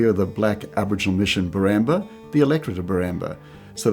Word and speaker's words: Woorabinda: We pronounce it Woorabinda, but Woorabinda Creek.